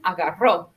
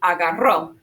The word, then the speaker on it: agarró: Todos repiten, agarró. Now, if you can roll your R's here, you should. Why? Right, because it's a double R, and double R's want us to roll it.